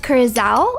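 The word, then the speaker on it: curaçao: hate working with it it's pronounced Kaz ow oh I didn't know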